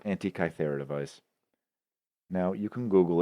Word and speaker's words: Antikythera: It was discovered had this one device called, and forgive me, I mispronounced this, the Antikythera device. I believe that's how it's called. Antikythera device.